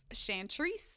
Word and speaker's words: Chantrice: So my personal page, it's Chantrice.